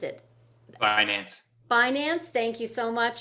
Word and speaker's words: Binance: I can't even pronounce it. Binance.